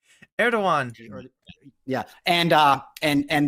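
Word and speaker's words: Erdoğan: the Turkish president right erigon I always say his name wrong it's not a hard erdogan yeah and uh and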